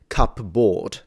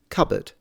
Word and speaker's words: cupboard: is red board but because they're put together now the pronunciation is modified and it becomes cupboard or covered I mean it depends on your on your accent there would be variations but no one says cup board what it's basically happening